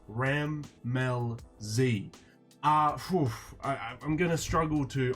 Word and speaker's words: Rammellzee: do I say it but it's it's breaking up into three parts RAM Mel Z ah I'm gonna struggle